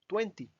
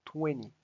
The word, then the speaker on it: twenty: con la pronunciación porque normalmente uno podría acostumbrarse a decir Tuenti cierto pero no realmente lo mejor es decir tuenny esto como si esta t no existiera hagan de cuenta que